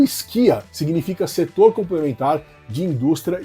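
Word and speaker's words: SCIA: prestem atenção nesse nome esquia ele se escreve s e a né a pronúncia deveria ser ccia mas se fala esquia como se tivesse um k no meio ou do verbo esquiar né isso para diferenciar do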